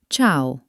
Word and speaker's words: ciao: Sometimes, you will see the letter E standing between the letter C and another vowel. In these cases, the letter E is actually silent. It's not there to be pronounced. It's only job is to tell you that the C must stay soft like the ch sound.